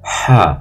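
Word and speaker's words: ح: deuxième lettre c'est la lettre ha c'est une lettre butérale ha on la prononce au niveau de la gorge et la troisième c'est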